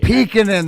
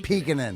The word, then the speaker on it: Peekinin: Peekinin. That's how you pronounce it. All you guys that are staring at the screen wondering how to pronounce his name. Peekinin.